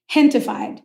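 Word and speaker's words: Gentefied: Hentified. So it's a play on gentrified, but gente is the word in Spanish for people.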